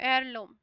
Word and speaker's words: heirloom: अच्छा, आपको कहीं ये वर्ड दिखता है HEIRLOOM, एयरलूम, इसमें एच साइलेंट है, एयरलिन, ठीक है, हेयरलिन,